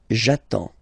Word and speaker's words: j'attends: So the first form will be j'attends, j'attends. Okay, you get D and S, well, basically you don't pronounce them, okay, and then you get only the sound attends, nasal here, en, j'attends, okay.